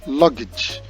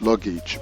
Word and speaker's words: luggage: The word is correctly pronounced luggage, and of course it is a noun. It is not pronounced luggage, but luggage.